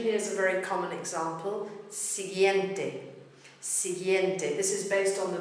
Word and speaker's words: siguiente: A lot of people mispronounce it siguiente, but the U is silent. It's there to make sure that the G is not pronounced H.